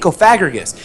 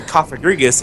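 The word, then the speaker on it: Cofagrigus: I don't know cuz like I would look at it, I would just I would read it Kofaggus and I'm like I can't believe they would actually name like that's how they would pronounce the Pokémon.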